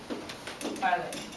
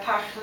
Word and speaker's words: parler: I've got parler, the infinitive. First of all, remember that air is always pronounced a.